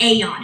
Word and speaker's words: Aeon: We have a patch that's specifically for inflammation called AON. It's spelled AEON.